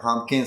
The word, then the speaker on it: pumpkin: try pumpkin spice latte. Yeah, very good. So pumpkin. So the P in the middle is not super clear.